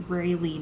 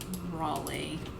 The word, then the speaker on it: Rayleigh number: r a is the rally number of zero rayleigh he saying that wrong sorry guys that's pronouncing it wrong it's rayleigh number not raleigh um it's a rayleigh